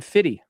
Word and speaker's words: 50 Cent: Josh was calling him Fitty. 50 Cent. Yeah, because that that's I think that's how it's supposed to be pronounced.